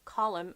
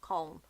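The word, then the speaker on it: Colm: and cab column is column not calm column is two syllables but like four letters column and then to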